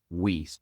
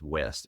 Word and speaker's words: Wiest: author is Brianna Wiest. Okay, I first read it as West. It's Wiest.